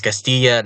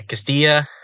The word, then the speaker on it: Castilla: state uh but yeah Castilla and dou that's a y sound at least where I come from you know I'm American